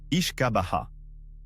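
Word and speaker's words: uisce beatha: Le nom est une version raccourcie et anglicisée du terme gaélique wishbeata prononcé ichkaabaha.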